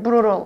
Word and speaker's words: brutal: brutal, brutal 이렇게 쓰는데 brutal 이라고 발음합니다. brutal.